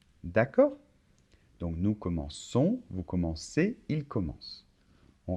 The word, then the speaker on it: commençons: Je commence, tu commences, il commence, nous commençons. Attention, on doit rajouter une cédille. Sinon, ça ferait nous commençons. D'accord? Donc nous commençons, vous commencez, il commence.